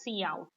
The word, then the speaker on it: cout: Now here you can see we have C out, right? It is pronounced as C out, and it is an